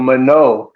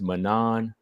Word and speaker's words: Manon: It's also Manon, not Manon. It's Manon. Yeah, the French accent.